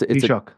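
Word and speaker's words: Taoiseach: Historically, um and and and how do you pronounce the the prime minister's name title in uh in Gaelic? It's Tshock. Say it.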